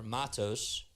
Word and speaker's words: Matos: off so MOS is up to bat or Matos that's how you say his name Luis Matos and the one two is outside for ball